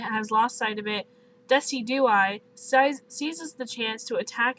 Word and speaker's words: Decidueye: I think it's pronounced Decidueye. Decidueye.